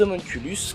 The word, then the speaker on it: homunculus: Et dans Fullmetal Alchemist, les homunculus, qui là sont prononcés en latin d'une part pour différencier et d'autre part car dans le manga on dit homunculus.